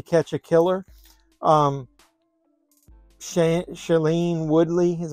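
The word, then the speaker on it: Shailene: bought it to catch a killer um sh shellene Woodley is how you pronounce her name Ben metalin metal sun I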